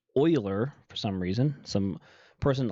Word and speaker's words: Euler: after this person which you would think is euler but it's actually pronounced euler for some reason some person a long long